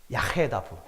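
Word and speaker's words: יַחְדָּו: 야헤다부. 제가 왜 발음을 했냐면요. 아케다하고 발음이 비슷해요. 아케다, 야헤다부.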